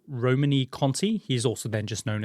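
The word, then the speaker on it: Romanée-Conti: a particular wine called I think is pronounced like Romany Cony he's also then just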